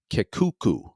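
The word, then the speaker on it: Kekuku: the name of Joseph Kuku nice name k okay I'm going to spell it k e ku ku phonetically works and spelled with a K which is always fun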